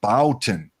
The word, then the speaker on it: Bouton: and EVC that says you pronounce that not botin but Bouton Bouton well EVC I bow